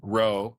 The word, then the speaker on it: rho: fancy term, Greek letter rho, which is where the term comes from. Looks like a lowercase p, but they pronounce it RHO, right?